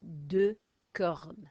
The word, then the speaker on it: deux cornes: Deux cornes. This time the X is silent because there's no vowel. So vowel there, sound the X, deux ailes, no vowel, deux cornes.